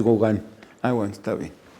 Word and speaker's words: Gauguin: Una vez pasaron un documental de Gauguin y le digo, oye, van a pasar uno de Gauguin. Y ya me dijo, no, es Gauguin.